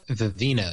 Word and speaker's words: Vivino: Vivino, yeah.